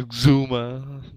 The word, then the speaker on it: Xuma: Sure that that's the right pronunciation of Xuma for sure. Yeah. Yeah, Xuma.